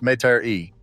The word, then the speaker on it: Metairie: And it was buried in the Garden of Memories Cemetery in a small town outside New Orleans called Metairie, pronounced Met-a-ree, in case you ever